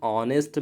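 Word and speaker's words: honest: से स्टार्ट हुआ है, बट एच यहाँ पे साइलेंट है और जो साउंड है इसका ओ से है, यानी एन ऑनेस्ट, ओ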